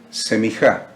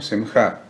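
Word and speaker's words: סמיכה: Semjá en hebreo lo vamos a decir en cordobés semijá, como se escribiría, digamos, aunque se escribe en idioma hebreo, pero una pronunciación más acordobesado sería semijá, en hebreo sería semjá.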